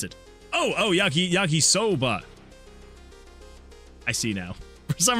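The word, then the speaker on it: yakisoba: Uh, the not so lonely says, "Yaki Sobra is not is how I've always pronounced it." Oh. Oh, Yaki. Yaki Soba.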